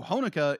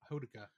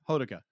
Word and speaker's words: Hodaka: So Honoka is... Am I pronouncing it? Honoka? Hodaka. Hodaka. How I've been pronouncing it. Yeah, Hodaka.